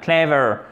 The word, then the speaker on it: clever: intelligent clèves clèves ok on fait bien l'accent tonique up sur la première syllabe clever ensuite on finit en